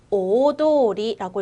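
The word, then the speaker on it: 大通り: 오도리라고 읽을 거고요. 큰 길이라고 해석해 주시면 됩니다. 오도리, 큰 길입니다. 근데 우리 요거 큰 대자를 타이 또는 나이라고 읽죠. 그런데 특이하게 어떻게 읽었어요? 그렇죠. 오라고 읽어줬어요. 그래서 오도리라고 한다는 거 꼭 기억하고 넘어갈게요.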